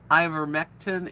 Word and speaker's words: ivermectin: know what that means i ivermectin is how it's pronounced and the fda and